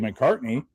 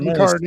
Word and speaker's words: McCarthy: He's going to have his growing pains, but he's not going to be a bust like JJ McCartney or JJ McCarthy, whatever. Yeah. You said it right, McCarthy.